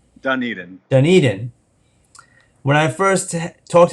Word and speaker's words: Dunedin: He, uh, he is of the, um, I want to get the pronunciation right. How do you say it? Dunedin. Dunedin.